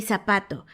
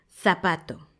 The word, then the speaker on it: zapato: Las personas en España la Z la pronuncian diferente a como la pronunciamos en Latinoamérica. Ellos no dicen zorro ni zapato. Ellos dicen zorro, zapato. Si te fijas, hay que poner la lengua en medio de los dientes, sacarla un poquito, pero sin que los dientes de arriba toquen tu lengua, porque hay que soplar un poco.